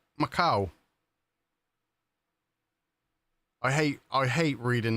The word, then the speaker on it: Macau: Um, oh, it's pronounced Macau. Macau.